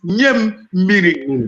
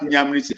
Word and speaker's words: Nyamiri: I say the correct pronunciation is Nyamiri Baniruwa. Baniruwa. So when I laugh at them, they say, oh, some of them begin to withdraw from that Nyamri.